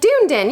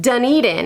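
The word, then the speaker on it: Dunedin: at me like where and I was like dunen you know like just south of Tarpon Springs and they laughed at me and they were like oh it's pronounced deden and I was like are you serious because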